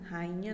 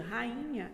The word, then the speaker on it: rainha: Ou seja, rainha é uma palavra que ela é hiato, tá? Rainha. E também é paroxítona, tá? A sílaba tônica é o I, tá? Ela tem 3 sílabas, rainha.